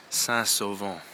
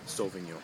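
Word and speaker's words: Saint-Sauvant: well I've arrived in sasovo I believe that's how you pronounce it it's definitely not solving you anyways that's over and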